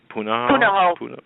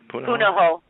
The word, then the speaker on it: Punahou: Because we know that when he was going to high school, I'm not sure how to pronounce that. Punahou. Punahou. Okay. Yeah, Punahou.